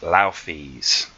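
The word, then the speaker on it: Nauthiz: And this is the rune that is spelt Naufis, but is actually pronounced Laufis.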